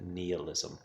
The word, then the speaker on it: nihilism: It's called nihilism. Some people pronounce it nihilism. Nihilism, it's a Latin root word for nothing.